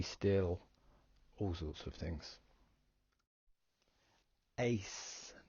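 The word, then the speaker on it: εἰς: Ace, the epsilon and iota make an A sound, so I put the phonetic pronunciation as ace, like in the pack of cards.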